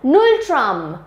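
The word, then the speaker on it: ngultrum: उड़ गया okay and नुल ट्राम नुल ट्राम इसको आप ले सकते हैं कि यहां से एन जी यू एल है लेकिन जी साइलेंट होता है नल ट्रम या नटम बोलेंगे तो जो भूत आया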